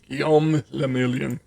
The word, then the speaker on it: Gomon: Gomon. If it doesn't rhyme, you're not pronouncing it right.